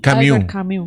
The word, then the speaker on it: Camus: ¿Cómo se dice Camus? Camus.